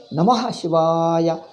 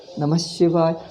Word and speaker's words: Namah Shivaya: As if the Namaha is hitting your ears. Namaha. Why are you hitting your ears? Namah Shivaya. How the pronunciation is smooth and very pleasant to hear.